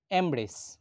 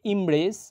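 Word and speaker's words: embrace: এরপরের শব্দ ইমব্রেস, এটি একটি ভার্ব অর্থ জড়িয়ে ধরা, কিন্তু আমরা বলে থাকি এমব্রেস। আমি আবার বলছি, শব্দটা হবে ইমব্রেস, এটি একটি ভার্ব অর্থ জড়িয়ে ধরা, কিন্তু আমরা ভুলভাবে উচ্চারণ করে বলি এমব্রেস।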